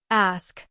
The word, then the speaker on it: ask: But many learners say it like axe due to their native language influence. Ask. ASK. The S comes before the K. Practice it slowly, ASK. Then faster, ask.